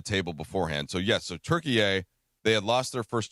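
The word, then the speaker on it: Türkiye: We are all expected to pronounce it moving forward as Turkey A.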